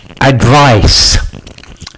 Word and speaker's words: advice: um some vocab pronunciation advice advice and advise advise I advise you not to smoke that is good advice um the sounds of